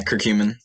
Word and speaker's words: curcumin: You said curcumin. I can never pronounce it. Am I pronouncing that right? Yeah, curcumin.